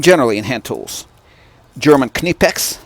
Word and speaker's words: Knipex: in hand tools German kinetics this is house pronounced not knife X not anything other than any pecs we're gonna compare those